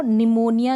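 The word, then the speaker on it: pneumonia: आपने कभी देखा हो निमोनिया जो होता है इसकी स्पेलिंग ऑफ पेंसिल शुरू कर देंगे गलत हो जाएगा पी साइलेंट होगा लिखने में भी आपको ध्यान रखना बोलते वक्त भी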